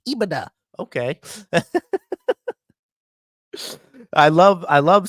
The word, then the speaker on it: EBITDA: It's EBITDA.